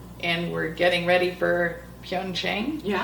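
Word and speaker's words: Pyeongchang: So then we fast forward a few years and we're getting ready for Pyongqing. Yeah. Not sure I pronounced that right.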